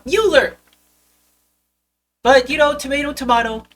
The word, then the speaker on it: Mueller: that person but he it Mueller not Muller Mueller but you know tomato